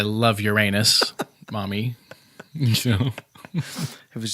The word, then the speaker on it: Uranus: He said, "Oh, Mommy, I love you past the moon, past Jupiter, past Uranus." Well, that's good. He didn't say, like, "I love Uranus, Mommy."